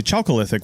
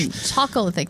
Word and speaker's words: Chalcolithic: Chalcolithic, that's CHALCO lithic. Yeah, and I struggled with that word a little bit. I've heard it pronounced Chalcolithic too. Oh, okay. Yeah, so I'm not really sure what the actual proper pronunciation is, but that literally means Copper Age.